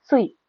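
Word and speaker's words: 水: Water ஜாப்பனீஸ்ல மிசு அப்படின்னு சொல்லுவோம். ஸோ இந்த காஞ்சியோட குன்யோமி மிசு. இதோட ஒன்யோமி சுய்.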